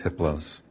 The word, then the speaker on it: Hiplos: His name is Hiplos. The H is silent.